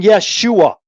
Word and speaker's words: Yeshua: There's two syllables in Yeshua. What's the first one? Yes. Yeshua.